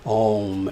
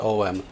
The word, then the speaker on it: Om: That is Om, A-U-M. And it's spelled A-U-M, not O-M.